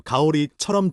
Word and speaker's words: เกาหลี: เกาหลี 는 한국에. 한국어 가오리처럼 들림. ทำงาน 은 일하다. 한국어 탐관처럼 들림. ออฟฟิศ 은 사무실. 한국어 오피스처럼 들림. มีคนเกาหลีคนหนึ่งทำงานในออฟฟิศเรา มีคนเกาหลีคนหนึ่งทำงานในออฟฟิศเรา มีคนเกาหลีคนหนึ่งทำงานในออฟฟิศเรา 패턴 주목하기. 한국 사람 한 사람. คนเกาหลีคนหนึ่ง 꼰 가오리 꼰융.